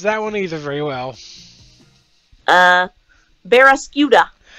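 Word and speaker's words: Barraskewda: And I cannot pronounce that one either very well. Barrascuda. Barrascuda, thank you.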